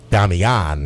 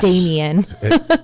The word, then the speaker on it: Damian: long time anyway, but it's Damian is how they say it. I've been corrected many times on that. So I'm just saying it so American. Yes. Damien.